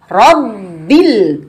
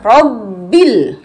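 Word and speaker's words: رَبِّ: Robbil, jangan dilepas, jangan robbil, tapi robbil. Masuk ditekan tanpa dilepas atau tanpa bernafas. Ini seringkali anak-anak, ya, kalau orang dewasa jarang. Itu pun ada kadang-kadang bacanya dijeda dengan nafas. Rob bil, kesempatan bernafas di sini ya. Jadi ini bukan tanda berhenti untuk bernafas, tapi justru ditekan dan kemudian dibaca 2 kali kan.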